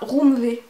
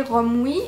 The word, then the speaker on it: Romwe: de romwii alors scoop dans ma tête j'ai toujours prononcé ça RV va savoir pourquoi et c'est en ayant une conversation avec Amélie qu'elle m'a dit que ça se prononçait romwii j'ai vérifié les autres